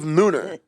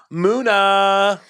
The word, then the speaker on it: MUNA: back we're back with part two of mooner that's not what they're called i know but i kind of want to do a british thing with it but you're right i'm just fully saying it wrong muna muna the band moon of